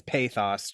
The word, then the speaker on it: pathos: I think it's pthos. Just if we're going to Well, I've also heard pathos. Let's see. Pthos. Pthos is what the dictionary pronunciation has.